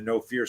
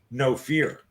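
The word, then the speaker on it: Know Fear: favorite lines from the no fear seminar fyi gang no fear is spelled k-n-o-w not like the adrenaline company no fear no which is a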